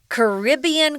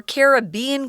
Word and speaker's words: Caribbean: we're gonna talk about Caribbean culture or Caribbean culture this is a word that is pronounced both ways I think I grew up saying Caribbean me too and then